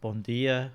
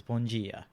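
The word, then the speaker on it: bom dia: difference is like at the surface level is bon dia which is how they pronounce good morning where brazilian is bungie and first time going here i was corrected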